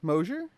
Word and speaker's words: Mosher: His name's Mosher. Is that correct pronunciation of your last name?